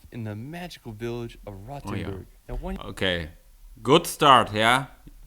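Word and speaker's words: Rothenburg: feel like you're walking in movie he he pronounces it like rattenborg which means like red Castle but that's not how I pronounce it's roen it's one of the most preserved medieval old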